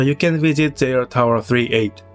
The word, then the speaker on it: 38: JR Tower 38 is an observation deck on the 38th floor attached to the Sapporo station. It is usually pronounced as just 38.